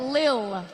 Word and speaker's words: Lil: I said Little Pump. It's Lil.